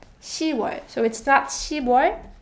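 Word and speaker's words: 시월: however when we say October it's written and pronounced she was so it stops she boy but it's she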